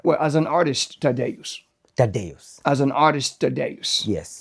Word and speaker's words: Tadeus: Tadeus. As an artist, Tadeus. Yes. Yes. How do you spell that for someone who's like, what is that?